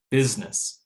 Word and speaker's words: business: it disappears general again with business it looks like there's three working vowels there but because the stress is on the first that second one could be reduced so much that we don't hear it business instead of business